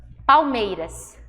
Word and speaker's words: Palmeiras: Palmeiras. Palmeiras. Cadê a vogal tônica? A vogal não, a sílaba tônica. Hã? Mei.